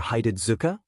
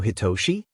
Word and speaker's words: Hitoshi: Is your name pronounced like Hitoshi or Hidetsuka? The other boy blinked a few times, staring back at Izuku hard like he was trying to figure out a motive, before pointing at the first pronunciation.